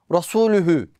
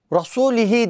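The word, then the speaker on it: رسولُهُ: Normalde ayetin sonu Rasulühü. Ama nasıl okuyor? Rasulihi diye.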